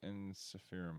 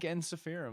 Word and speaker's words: Ensiferum: a little bit okay is there an English person that's kind of like ensiferum like how I would say it right it's a roll of the tongue on the end of that okay and this is